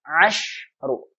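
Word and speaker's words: عشر: Salasu, arba'u, khamsu, sittu, asalnya sittatu, sittu, sab'u, samani, tis'u, ashru. Perhatikan ya, ashru. Kalau seandainya dia muannas, nih, pahami kata ashru, kalau dia muannas dibacanya asyaratu. Bedanya nih. Kalau ashru, sinnya sukun, ashru.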